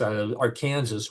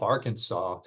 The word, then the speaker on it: Arkansas: Well, I'm sure he recognizes that when you look at the word, that it's Arkansas would be the natural pronunciation. The problem here is when the state that calls itself Arkansas came into the Union, they had two senators,